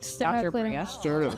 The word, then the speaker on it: sternocleidomastoid: Sternocleidomastoid.